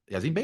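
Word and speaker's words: Yasiin Bey: with, just Black Star, just Talib Kweli, and Yazin Bey. Yazin Bey is the correct Yeah.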